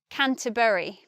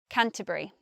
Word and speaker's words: Canterbury: to university in Canterbury I say it like that with three syllables but some people might say Canterbury Canterbury I think the most common pronunciation is just with the three syllables Canterbury next those two pronunciations